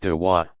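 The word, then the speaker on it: da'wah: Proselytizing is called inviting, dwa, pronounced dawa, others to join the community of Islam.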